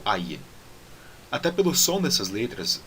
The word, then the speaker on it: Ayin: E o Ayin, antigamente tinha um som diferente do som do Aleph, mas hoje em dia é pronunciado da mesma forma que nem o Aleph, e os dois são pronunciados com aquela parada glotal, então A, tá bom?